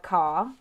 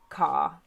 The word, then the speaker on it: car: which is receive pronunciation the letter r after a vowel sound at the end of the word is often not pronounced however when the following